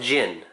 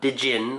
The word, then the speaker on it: Djinn: Djinn cards and yes it's pronounced gin not diggin or genie or some other crazy